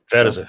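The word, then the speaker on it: Vejtasa: Vedisa? Yeah. Is that how you pronounce it? Vedisa, yeah.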